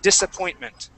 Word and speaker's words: disappointment: this word here um that s uh will not be pronounced like a like a z okay you would said disappointment yeah okay it would be an S sound we would say dis disappointment disappointment okay good all